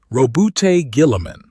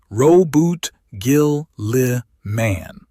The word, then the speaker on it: Roboute Guilliman: Let me say his name properly first because the audience corrects mistakes and this one matters. Roboute Guilliman. Ro-bute Gil-li-man.